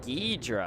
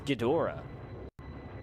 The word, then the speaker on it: Ghidorah: Wait, Ghidra? I swear it's Ghidorah. Oh, I've been saying it wrong my entire life.